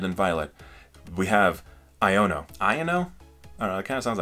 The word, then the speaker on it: Iono: Iono? I don't know, it kind of sounds like Liono. But also if you say it like Iono, it kind of sounds like I'm just like saying I don't know.